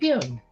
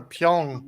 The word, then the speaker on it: Pyun: science fiction director Albert Pyun. Albert Pyun. If I'm pronouncing it correctly. I think that's how you pronounce it. Oh, you got it right. Lots of people pronounce it. We're Pyong. It's like Pyongyang?